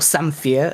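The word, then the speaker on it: samphire: and Ash baked salc with foraged samire or samere as Hannibal pronounced it um in Janice poon's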